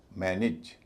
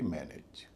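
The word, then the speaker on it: manage: इस पूरे शब्द का उच्चारण होगा मैन इज। मैन इज ना कि मैन एज।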